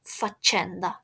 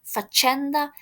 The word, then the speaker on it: faccenda: And the stress is on faccenda. Faccenda, it's something that happened, okay?